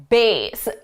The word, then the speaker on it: bass: Now, I always forget if the musical context is bass or bass. It's bass, bass, bass.